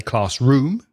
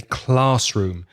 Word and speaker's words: classroom: la sílaba más fuerte, the stress is usually on the first word. For example, class and room, classroom. Dade, classroom. So we don't say classroom, we say classroom with the stress on the first word.